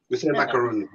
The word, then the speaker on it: macaroon: that i had yeah macaroon macarons how do you say it yeah the one like you're talking about is macaron the one with the coconut is the one with coconut is macaroon no um oh hold on